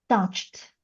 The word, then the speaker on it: touched: And that means if you add e d you pronounce it as t. So we get touched.